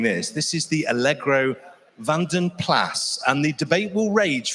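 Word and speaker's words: Vanden Plas: And the debate will rage forever on, is it Van den Plas? Is it Van den Pla? Fuzz tells me it's Van den Plas. Apparently it's a Flemish name and you pronounce it with a hard S.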